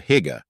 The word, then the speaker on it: hygge: The Danish concept of hygge, pronounced hygge, refers to a cozy, comfortable, and convivial atmosphere that promotes well-being.